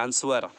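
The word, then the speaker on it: answer: चलिए, आज पहला वर्ड है हमारा जो हम लोग बहुत ज़्यादा कॉमन है, अक्सर हम बोलते हैं, आप सुनते भी होंगे, लोग बोलते हैं आंसर, आंसर बोलते हैं, है ना। आंसर नहीं होता, तो आपको बोलना है आंसर, आंसर, आंसर। I hope समझ में आया। आंसर, यहाँ पे डब्लू साइलेंट है, डब्लू को नहीं बोलेंगे, आंसर।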